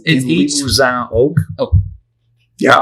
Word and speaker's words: Limousin: It's aged Limousin oak. Oh, yeah. A+ in the pronunciation there.